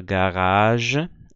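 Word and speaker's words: Garage: a palavra jre aqui eu tenho a palavra garaj e aqui eu tenho a palavra gaja Ah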